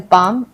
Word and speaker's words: palm: हम बाम बोलते हैं, इसको हम पालम नहीं पाम पढ़ते हैं।